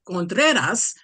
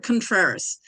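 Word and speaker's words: Contreras: gosh hi thank you uh well the correct pronunciation is contas but that's really hard so we'll make so we'll make it contrarious so so good evening cat ladies for Kamala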